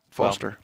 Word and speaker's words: Forrester: it's been the V Forrester base pronounced Foster of course I can't